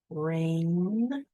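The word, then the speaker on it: reign: Rain. We have r a. What on earth? We don't see an a in there. The ei guys can say an long a sound. Rain. And then there's a silent g there which you will also be practicing silent letters.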